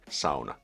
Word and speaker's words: sauna: English speakers pronounce sauna. SA, you know, sauna is the pinnacle of Finnish culture. You want to pronounce that right. Sona, not Sona. There's no sewing going on, you And I I